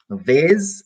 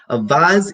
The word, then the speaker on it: vase: a vase from Vaz a vase or a bus a bus is the UK pronunciation while a vase is the American pronunciation so those UK or